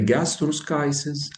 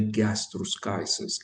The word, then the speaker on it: gastroschisis: And by the way, the Americans say gastroschisis and the British say gastroschisis. Both are right. However, we will use the American way. So we will say gastroschisis. Gastroschisis, it is one of the abdominal wall defect.